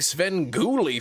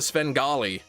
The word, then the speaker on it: Svengali: Heard you aren't a bit a big Svenly fan. It's pronounced Svengali.